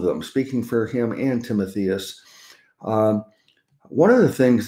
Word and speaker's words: Timotheus: mathias or how did you say it renee timotheus timotheus okay that sounds better uh so paul and timotheus uh paul writes a greeting uh for both of them speaking for him and timotheus um one of the things that uh this